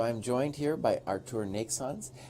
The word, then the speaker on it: Neiksans: joined here by arced ornate sons how do I pronounce your name property I think it pronounced it just fine Oh is the English person like is the German version as long as you